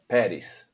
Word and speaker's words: Peres: is fine, but Pattis is better. Like the emphasis is on the first syllable.